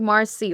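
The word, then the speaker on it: marsii: It's more like marci, Like the Marci. And you spell it m a a r s i i Marci.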